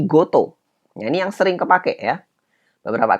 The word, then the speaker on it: 事: yang pakai ini ya cara baca kunyomi tapi dia berubah menjadi dari kota berubah jadi goto ini yang sering kepake